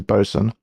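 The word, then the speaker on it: boatswain: boat swain announce lover is bow I suppose with tw with child bosan bosan yeah bosan That's hard AF. If you don't know how boatain boat is actually pronounced, which is bosen, good luck if you don't know that.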